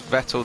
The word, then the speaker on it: Vettel: what do you call vettel vertell no i've i remembered when when i think it was david coulthard first said it was vettel to rhyme with kettle that's the way i